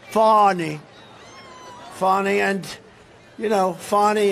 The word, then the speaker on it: Fani: cases like funny funny it's spelled Fanny it spelled Fanny like your ass right Fanny but when she became da she decided to add a little French a little fancy fonny fonny and you know